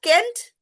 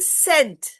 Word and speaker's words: scent: So when E is followed by C, what is the pronunciation? Is it Kent? It's a scent. Scent. Right? Yes, it is scent.